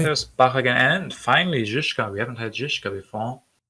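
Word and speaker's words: Žižka: Also, I was recently convinced by a viewer, I think from Czech, that he's called Zizka, not Zizka.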